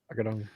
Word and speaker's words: Agudong: How do you pronounce that? Agudong. Agudong. Agudong.